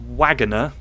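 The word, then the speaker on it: Waggoner: know this and I was definitely surprised it's pronounced Wagoner it is wager okay wager yeah I thought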